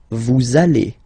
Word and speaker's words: vous allez: Same thing here. We'll have this little link between the two. Vous allez. Vous allez.